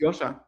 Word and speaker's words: Joscha: It's Yosha. Yosha. Yes. So you pronounce it Y O S H. It's a German name so it has a German pronunciation.